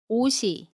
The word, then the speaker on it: 옷이: So, ‘옷이’ is pronounced as . ‘ㅅ’ is pronounced the same. You should not pronounce it as .